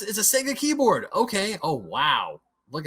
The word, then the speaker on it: Sega: And I think that was Sega and I do say Sega, not Sega, by the way. That's the way we pronounced it here at the time.